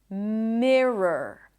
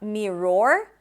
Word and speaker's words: mirror: The next word is mirror. Mirror. Same thing. You start with me and then it's an rwah r. It's not mirror but mi relaxed i i i i m r. So r schwa r.